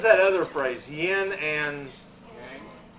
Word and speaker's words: yang: Yang. It's pronounced yang.